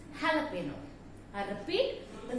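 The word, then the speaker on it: jalapeño: Again, the pronunciation, the same as here, it's not jalapeno, it's jalapeno. I repeat, the correct pronunciation of this word is not jalapeno, it's jalapeno.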